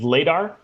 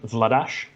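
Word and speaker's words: Vladař: They're heading into this with, we're going to go with Vladar, but I believe he actually pronounces his name Vladash.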